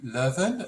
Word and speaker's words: Leuven: get it correct okay yes so it's ku levin um which is in